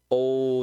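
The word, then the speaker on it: を: Comecei os estudos, né? Comecei os estudos. Benkyou shi hajimemashita. Tá bom? Logo, nós vemos uma partícula o, que se escreve W-O.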